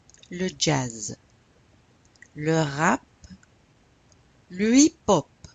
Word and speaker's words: hip-hop: Le hip-hop. You don't pronounce the H. Le hip-hop.